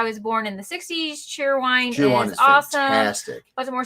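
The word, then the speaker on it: Cheerwine: that I didn't know not cherry wine it's cheer wine cheer wine yeah said southernly of course right uh it's been around since before I was born in the 60s cheer wine is awesome fastic more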